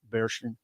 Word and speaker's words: Barchen: Hey, would you just please spell Bearshin? Barchen. Okay. It looks like Bar Chen, but it's Bearshin. Okay. That's the way you pronounce that.